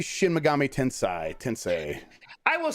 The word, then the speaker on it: Tensei: It's Tensei, not Tensei. Tensei. Okay. Tensei, not Tensei. Like Sensei.